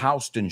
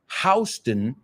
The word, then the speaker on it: Houston: Houston is the name of the street in New York City, aunque se escriba igual. Me recuerda a otra. The street in Beverly Hills is called Rodeo Drive. But if you go to see cowboys, you're going to a rodeo. Same word, different pronunciation, right?